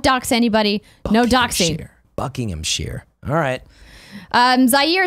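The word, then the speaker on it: Buckinghamshire: the game came out ok Oh Bob's it's pronounced buckingham sheer Buckingham sheer is it really that's what he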